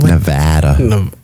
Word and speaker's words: Nevada: uh here in nevada how do you say nevada nevada nevada not nevada not nevada nevada that's too proper for this place grabber here in